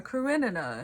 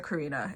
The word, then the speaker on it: Karenina: It's just because I ended up watching a video of people going, how to pronounce this name, and it's Anna Karenina, and I'm like, okay, that makes sense. And then I still read it and I go, it's Anna Karina, and it's not. That's wrong.